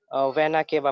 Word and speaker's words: vena cava: इसको हम लोग कहेंगे aorta, वेना केवा प्रोनाउंस करेंगे, वेना केवा.